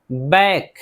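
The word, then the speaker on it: back: बैक, बैक, सी के एक साथ है इसलिए सी को नहीं पढ़ रहे हैं।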